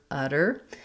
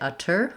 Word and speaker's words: utter: is challenging so you might want to try um breaking down just doing the er and then thinking about it more like a d e r er der utter what people will find